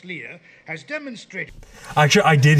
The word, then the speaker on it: Leia: obi-wan and princess leah the old old dude rebellion guy says princess leah which is like plans provided by princess leia has demonstrated actually i